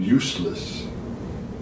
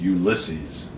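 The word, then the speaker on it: Ulysses: Well, there must be some reason they gave you the name useless. It's pronounced Ulisses.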